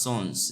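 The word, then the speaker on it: Sans: S A N S is pronounced as sons is pronounced as s o o n z.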